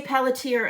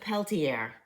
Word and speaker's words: Pelletier: we did Carol Pelletier we say Pelletier up here some people pronounce it Peltier okay p-e-l-l-e-t-i-e-r and she